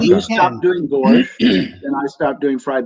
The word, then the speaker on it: borscht: That not much you can do with borscht. You're doing a great job. That's one syllable.